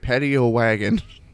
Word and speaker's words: Paddyowagon: My name is Fresman, and today I'm joined by, I hope I'm pronouncing this right, Paddyowagon.